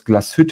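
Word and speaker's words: Glashütte: uh quickly that was glaswet or original that's um the proper pronunciation which was owned actually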